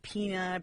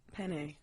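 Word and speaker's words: Peña: It's for the pronunciation so that it's not pronounced Pena.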